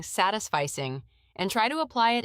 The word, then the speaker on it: satisficing: And you've touched on a common mistake, mispronouncing satisficing. It's pronounced sat is fice with the emphasis on the first syllable. It's not satisfice like satisfy.